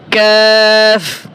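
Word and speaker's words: ق: লাগাইয়া দুই নক্তাওয়ালা এরপরে পাঁচ নাম্বার মাখরাজ জিহ্বার গোড়া থেকে একটু আগে বাড়িয়া জিহ্বার গোড়া থেকে একটু আগে বাড়িয়া তার বরাবর উপরের তালুর সঙ্গে লাগাইয়া মধ্যখান পেছানো কাফ কাফ যদি আমরা হামজা যোগ করে উচ্চারণের বোঝার চেষ্টা করি হামজা কফ জবর হামজা কফ জবর আর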